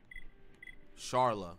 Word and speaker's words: Sharla: up to for sheila i said sheila is that her name i got her name wrong bro sharla i said sheila jesus